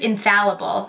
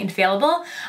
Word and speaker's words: Infallible: the L'Oreal in infallible I think cuz I said it wrong when I did my first impressions video I think it's infallable I was saying INF failable um total cover Foundation